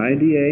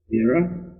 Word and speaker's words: Ida: The Ira and Pingala, I-D-A and P-I-N-G-A-L-A. Ira, the D is pronounced Ira, and Pingala. Some call it Ida.